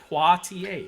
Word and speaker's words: Poitier: It's actually pronounced Poitier.